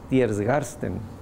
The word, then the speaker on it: Tiergarten: 14F13, el programa T4, T se refiere a la calle, no la pronunciamos bien, pero es Tiergarten.